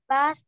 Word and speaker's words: bad: swearing, speaking bad words and playing computer Giỏi. Ừ. Chữ bad này nè. Con đừng có bỏ s vô nha. Bad. Bad. Đừng có bỏ s nha.